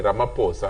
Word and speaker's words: Ramaphosa: against him president ramaphosa the name is actually ramaphosa okay the way it is pronounced president ramaphosa has skeletons